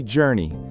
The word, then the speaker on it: journey: When you say journey, make sure that j sound is clear, dreni, and unforgettable has that stress on the third syllable.